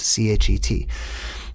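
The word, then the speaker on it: חית: It is called Chet, or you would probably pronounce it Chet if you read how it is spelled, C-H-E-T.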